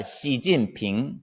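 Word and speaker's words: 习近平: 저 뉴스 시간에 많이 나오는데 성조를 넣어서 발음하면은 이성, 사성, 이성이에요. 시진핑 이렇게 됩니다. 시진핑.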